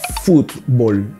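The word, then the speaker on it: fútbol: Presta atenção na pronúncia. Futebol. O T mudo.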